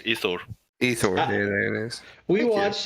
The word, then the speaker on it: Thor: Ithor, there it is.